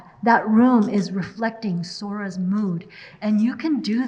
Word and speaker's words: Sora: ahead without her grandmother she remembered how Harmony would say her name with a soft s and a gently rolled R when I say Sora in English it sounds like this Sora Sora kind of like Sarah but when you say